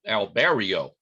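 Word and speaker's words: Albireo: telescope here uh this is a star called albierro or albero alberio is the proper way to pronounce it now you may be saying well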